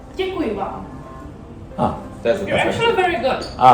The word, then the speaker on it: Děkuji vám: How do you pronounce that? Děkuji vám. Děkuji vám.